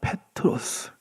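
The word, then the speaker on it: Πέτρος: 베드로 우리가 우리말로는 이름을 베드로 발음을 베드로 이렇게 하는데 그리스식으로 그러니까 헬라어로서는 베트로스가 됩니다. 페트로스 반석은 뭐라 하느냐?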